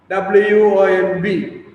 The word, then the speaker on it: womb: Mother India yielded the sons of her stricken womb. W-O-M-B. B is silent, so you have to pronounce as womb, not womb, womb.